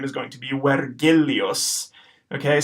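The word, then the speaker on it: Vergilius: be wet Julius okay so the V at the beginning is going to be pronounced as a whoa when when our our is gonna be rolled and then our G's not going to be a just sound like in Virgil it's gonna be a gust out because Latin G's always go so this will be pronounced wet Gilly us where Gilly us okay now there's one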